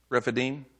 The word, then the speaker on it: Rephidim: How you pronounce it? Rephidim. Rephidim.